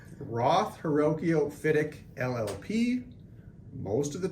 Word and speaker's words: Hrywkiw: Full name, Roth, Hrywkiw, Fidek, LLP.